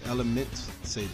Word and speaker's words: Elementsabers: Hope you guys did enjoy me playing some Elementsabers or Elementsabers or however else you pronounce it. But yeah, man, what is it? Elementsabers? It's Elementsabers.